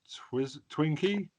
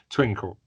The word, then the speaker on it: Twinkle: I love how Twinkie. Oh no, I've said her name wrong, haven't I? My brain's not working. Twinkle.